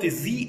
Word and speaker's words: the: شوف في الاول، في اول واحده انا قلت the elephant عشان elephant تبدا بحرف متحرك، وفي نفس الجمله عندي the biggest انا نطقتها the عشان كلمه biggest بتبدا بحرف البي، وحرف البي حرف ساكن.